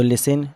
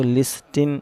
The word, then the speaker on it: listen: एक चीज ध्यान रखें कि यहां लिसन में टी साइलेंट है इसको लिसिन नहीं पढ़ा जाएगा बल्कि साइलेंट तो लिसन पढ़ा जाएगा वंस अपॉन वंस अलोइन